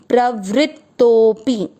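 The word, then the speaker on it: प्रवृत्तोऽपि: के बाद में अवग्रह, आपको तो की मात्रा को लंबा खींचना है, तोपी, प्रवृत्तोपी।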